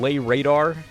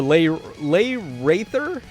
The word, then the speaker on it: Laeradr: man what's his name lay radar or or lay lay rther I think is how you say that but I mean